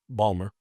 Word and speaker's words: Baltimore: Pronounce it correctly. Balmer.